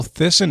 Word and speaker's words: Thissen: to remind people that it rhymes with listen ah it was spelled